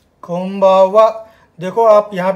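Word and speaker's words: こんばんは: कोन नहीं बोलना है, कोम्बावा। उच्चारण पे ध्यान देना आप। कोम्बावा मतलब M साउंड आ रहा है उसमें, M की जैसी आ रही है, माँ की जैसा साउंड आ रहा है, कोम्बावा।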